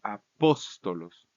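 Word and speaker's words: ἀπόστολος: caso de ejemplo es apóstolos apóstolos tiene un acento en el nominativo en la antep última sílaba lo vamos a cambiar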